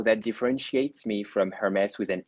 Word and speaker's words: Aermes: So my name is Hermes, and you can pronounce it like the god Hermes with the H letter, but my name starts with the ash letter, A-E. A-E is the ash letter, like in the ash tree.